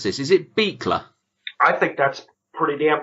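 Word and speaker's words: Buechler: we go when I undo me last name pronounced beekler sweet John Colby claw him with the big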